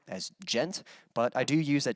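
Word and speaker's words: djent: what is known as gent uh so if you ever hear the term gent and that's spelled uh d-j-e-n-t a lot of people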